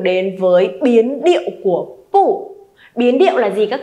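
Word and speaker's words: 不: Pu này là thanh 4, đúng rồi, đọc dứt khoát lên cho cô nhé. Không phải là pu mà là gì? Pu. Pu, đúng rồi. Pu này mang thanh 4. Nhưng khi mà đằng sau pu cũng là một thanh 4, được chưa nhở? Đằng sau pu cũng là một thanh 4 thì pu phải được đọc thành pu nhá.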